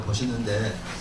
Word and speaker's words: 보시: 이걸 포라고 읽지 않고 보라고 읽어요. 우리 불교에서는 이 격음이라 하죠. 격음. 그냥 강한 가급적인 부드러운 음으로 바꿔 읽습니다. 그래서 이걸 포시가 아니라 보시라고 했는데, 이거를 포시라고 이렇게 인터넷